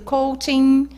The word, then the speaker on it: coaching: Coaching, coach e coachee. Realmente tem uma sutil diferença na pronúncia, porque um deles é o processo, que é coaching. Então, tem o NG no final. Quem aplica o processo é o coach, sem ING no final.